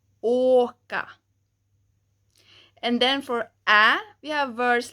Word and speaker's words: ä: And you can think that the ä sounds kind of like the a in cat, cat, cat.